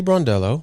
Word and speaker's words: Brondello: How would you pronounce that? I should know this. But Sandy Sandy Brondello.